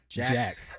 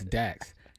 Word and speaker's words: Dax: I called him Jax, and his name is Dax.